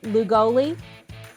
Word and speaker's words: Llugolli: me one more time how to say your last name lou golly yes okay with the southern accent that's how you say it it's albanian so i'm born and